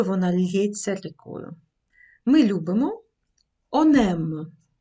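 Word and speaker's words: on aime: Подивіться, я вимовляю це знову як одне слово. В уроці про дієслова, що починаються з приголосної, ви, мабуть, помітили, що я вимовляла цей он як носовий. Я вимовляла це он. Зараз я вимовляю он. Он. Чому так відбувається? Через те, що наступне слово м починається з голосної.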